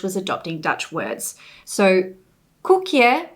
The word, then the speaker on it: koekje: So koekje, which is spelt in Dutch with the OE sound and makes an oo, was converted to English using a single vowel sound.